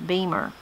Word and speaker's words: Beamer: Tammy says, I had a granny named Ocie, O-C-I-E, O-C, and a grandpa named Beamer, B-E-M-E-R, Beamer.